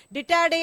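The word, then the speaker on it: Didache: The Dittade அப்படின்னு சொன்னா என்ன அர்த்தம்னா, ஒருவேளை அந்த ஸ்பெல்லிங் டிட்டாச்சி அப்படின்ற மாதிரி இருக்குது, ஆனா அதை ப்ரொனவுன்ஸ் பண்ணும்போது டிட்டாடே அப்படின்னு சொல்லணும்.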